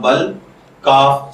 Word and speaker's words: بلک: اپنے آج کے ٹاپک بلک کی جانب۔ بلک کی اردو املا میں جو حرف استعمال ہوتے ہیں وہ ہیں بے، زبر لام بل، کاف ساکن بلک، جبکہ انگلش میں اس